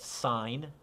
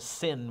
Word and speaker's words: sin: is the first one it's written s-i-n but it's pronounced sign it's a sin when you say sin